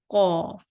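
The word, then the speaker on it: ق: Qaf. And when we pronounce the letter Kaf, the back of our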